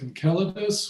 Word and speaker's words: Enceladus: Now by referring to this Moon of Saturn as Enceladus which would be the correct more the more correct Greek pronunciation they didn't have any soft Seas back then all the Seas were hard Seas so it's just like the Boston Celtics basketball team and moving a little